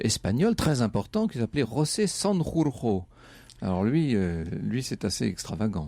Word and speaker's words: José Sanjurjo: Petite parenthèse d'admiration et de bon point pour la prononciation en espagnol, parce qu'en général c'est un nom totalement difficile à dire, pour les gosiers français.